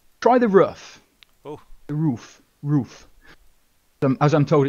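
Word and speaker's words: RUF: go in the try the roof oh the roof roof them as I'm told it's pronounced let's be sabrine here we go sabine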